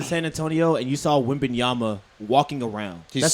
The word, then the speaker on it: Wembanyama: Webanama. That's like you say. Webanaba. Webanaba. I kept saying Webanama. How you say it? Wembanyama. Wenbanyama. Is it Wemben or What is he? Wembanyama.